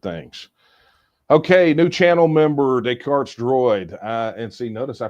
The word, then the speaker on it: Descartes: Okay, new channel member, Descartes Droid. And see, notice I pronounced it correctly because I know who Descartes is.